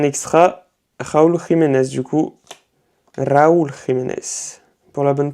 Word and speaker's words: Raúl Jiménez: Et ensuite, du coup, ça c'est un extra, Raúl Jiménez, du coup, Raúl Jiménez, pour la bonne prononciation.